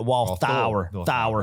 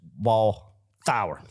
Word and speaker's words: Walthour: And then it came to that Walthour, Thour, like a sour gummy worm, sour.